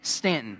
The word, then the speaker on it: Staunton: It looks like Stanton, but you don't say Stanton, do you? Staunton.